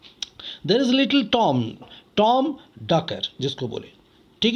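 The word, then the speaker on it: Dacre: वहाँ कार्य करता था, उसका नाम टॉम डैकर, डाकरे बोले या डैकर, डैकर एक्चुअली नहीं, उसको टॉम डैकर बोले, इस तरीके से प्रोनाउंस करें।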